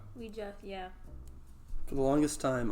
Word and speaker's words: Ouija: Yeah, but it's actually pronounced Ouija. Ouija, yeah.